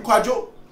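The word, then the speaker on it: Kwadwo: But it's still pronounced the same name, Kwajo or.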